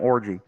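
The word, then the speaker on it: Orji: Alex orgy Subs in everyone spam orgy that's how it's pronounced Chris does not believe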